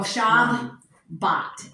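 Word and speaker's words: שבת: It is that way in Shabbat too, but you know, it's kind of, if you listen to when you say Shabbat, Shabbat. You know, you don't go Shabbat, it's Shabbat. It's there, Yeah.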